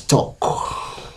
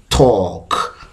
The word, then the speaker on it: talk: write a transcription or if i write the pronunciation or the sound spelling the spelling of the sound you realize that we are going to have t and or this is a long sound and k talk talk so here our images